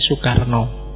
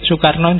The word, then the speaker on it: Soekarno: tulisannya SOE. Cuma nanti Soekarno tidak suka dengan tulisan SOE itu, yang Soekarno itu, karena dianggap ejaan Belanda. Dia sendiri lebih suka ditulis biasa aja, Soekarno, bukan Soekarno.